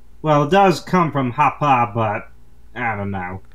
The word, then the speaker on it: Hoppe: It's Hoppa because it's German.